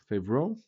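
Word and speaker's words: Favreau: We have Robert Duval, CeCe Spacic, and John Favro.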